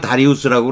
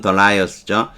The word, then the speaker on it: Darius: 제리가 telling me, 나에게 Darius, 우리가 다리우스라고 그러는데 영어 발음은 Darius죠.